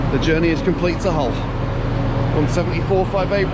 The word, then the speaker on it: Hull: Hull Paragon Interchange, better known as Hull, and better known by the locals just as Hull. They don't really pronounce the H, it's a Yorkshire thing, I get it, don't worry.